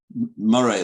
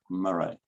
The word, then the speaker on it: Moray: See how they write Moray there? Murray, that's how you say it, Murray.